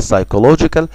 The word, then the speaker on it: psychological: لو جيت تلاحظ في كلمة نفسي كده اللي هي psychological، هتلاقي ان البي دايما بتتكتب ودايما silent. خلاص، دي اول ملاحظة.